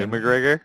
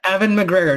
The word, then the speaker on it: Ewan McGregor: Ewan McGregor? Ewan McGregor. Yeah, that's his name. Evan McGregor. Mhm. Evan McGregor.